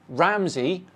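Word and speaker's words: Ramsay: is now Gordon ramay Gordon ramay with an A Y instead of an ey hey genius you still say ramsy and it's always been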